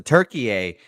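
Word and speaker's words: Türkiye: that it is now turkey is how it's pronounced apparently now so shout out to Turkey a versus Chia here two new names that we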